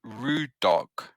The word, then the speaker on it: Rudarg: It's called Rude Dog. how do you spell it? You know the Rude Dog, like the Rude Dog scouts you guys encountered? Ru. It's Rude Dog. DARUD Yeah. ARG. ARG Rudok.